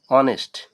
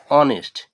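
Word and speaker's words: honest: যেমন অনেস্ট, আমরা কিন্তু হনেস্ট বলি না, এখানে উচ্চারণ হচ্ছে হলো কি অনেস্ট, অর্থাৎ এইচ এর উচ্চারণ হচ্ছে না।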